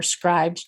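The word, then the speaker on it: Scribd: have a subscription to Scribbid, you or Scribed, depending on how you would like to pronounce it, but I believe it's Scribbid, um, they are mostly on there.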